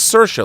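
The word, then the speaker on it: Saoirse: in a talko going it's cersa like inertia I'm like oh I'll never forget that so it's sersa Ronin I can't even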